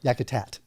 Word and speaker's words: Yakutat: Yakutat.